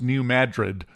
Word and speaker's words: New Madrid: Uh if the New Madrid fault went off again, by the way, we've now apparently officially decided that's pronounced New Madrid.